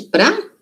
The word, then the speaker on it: para: Existe pra? Vamos ver? Em português, a palavra para normalmente é pronunciada como pra. Pra significa o quê?